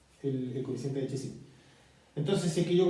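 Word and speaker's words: Chézy: por un coeficiente de Chezy al cuadrado. Esto acá es Chezy, se escribe con 2E Chezy y hay un acento entre medio en la primera E, ¿ya?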